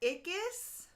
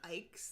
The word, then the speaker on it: Ickes: Scott, so is it Scott Ickes? He said Scott, because I think I would have said Scott Ikes. That's how I would have pronounced it, but he said it rhymes with Spartacus.